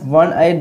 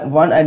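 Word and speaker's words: one-eyed: A tree, তো এখানে ওয়ান আইড দেওয়া আছে, তো এখানে হবে এ, এখানে কিন্তু অ্যান হবে না, এটা ওয়া, যদি ও তবু এখানে এ হবে, কারণ এটা ওয়া এরকম উচ্চারণ হচ্ছে এই জন্য।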